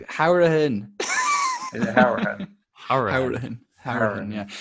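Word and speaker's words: Hourihane: Howrahan, yeah. But that's actually often got wrong in Ireland. That's his Cork. That's a Cork pronunciation, but he's from Cork.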